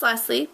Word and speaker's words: Lesie: Okay, my number one pet peeve is when people don't pronounce my name correctly. My name is Lesie, obviously.